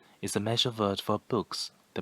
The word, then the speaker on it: 不: it small thing sure boo the fourth tone originally is fourth tone but before another first